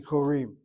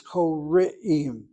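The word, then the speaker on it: קוראים: That's how you hear people saying korim. They say korim. The word is not korim, it's kore'im.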